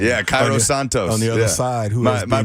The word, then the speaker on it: Cairo Santos: Santa's Santos how you say his name yeah Cairo Santos on the other side my Brazilian brother the